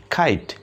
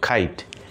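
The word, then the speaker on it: kite: তাইলে খ আই ঠ খাইট খ আই ঠ খাইট এটা ওই হিসেবে কিন্তু খাইতে না আবার খিটে না এটা হচ্ছে খাইট ইটা সাইলেন্ট ইটার কোন উচ্চারণ হবে না এরপরে আমরা পরেরটাতে আসি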